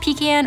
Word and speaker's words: pecan: Pecan or pecan? All are correct.